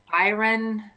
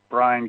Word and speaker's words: Brian: your time maggie the next three speakers are byron gildery tammy hetrix and keith allery um is